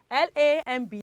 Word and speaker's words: lamb: Now, this follows the rule that says that when B comes after letter, it is silent. So L-A-M-B is lamb. Okay, 2, C-R-U-M-B is crumb. Because what? Because the letter B is silent.